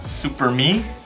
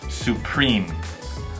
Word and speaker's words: Supreme: is French so it's probably something I can't pronounce you JA IKEA you go no Sangan India IKEA try some fashion brands super me supreme supreme Burberry Burberry Burberry Burberry Hermes social Hermes